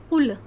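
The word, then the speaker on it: قُل: और अगर हम इसका सही कौफ का सही प्रोनाउंसिएशन ना करें। कौफ जो है वो हलक के दरमियान ही हिस्से से अदा होता है। अगर हमने नहीं निकाला और हमने कहा कुल तो कुल कहते हैं खाने को यानी खाओ।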